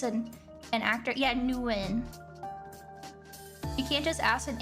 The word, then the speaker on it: Nguyen: Oh, why do you have an intro for a fucking pronunciation? Nguyen.